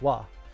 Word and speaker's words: は: It's the letter ha, but it's pronounced wa.